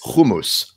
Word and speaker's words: hummus: called Little Shop of Hummus, or Hummus, of course, as we pronounce it in the Zionist world.